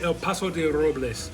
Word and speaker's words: El Paso de Robles: Say El Paso de Robles.